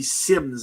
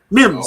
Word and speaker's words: Mims: That would be Sims, I believe it is. If I'm not mistaken, that's how you say his name? Or am I? Mims, sorry. Mims, there we go.